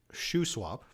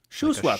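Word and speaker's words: Shuswap: we've been corrected in the comments it is pronounced Sho swap Sho swap so I was right okay all right all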